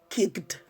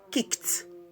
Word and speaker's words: kicked: Not popped, popped. Not kicked, kicked. Not passed, passed. Why? Because ed is coming after voiceless sounds like f, p, k, s, and so on and so forth.